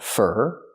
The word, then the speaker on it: for: We use for, pronounced fur.